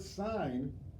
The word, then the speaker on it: sign: spelled s IGN and in the word sign the G which is a consonant is silent so if you say